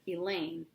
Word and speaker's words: Elaine: If I didn't know better, I'd swear Elaine rhymes with pain.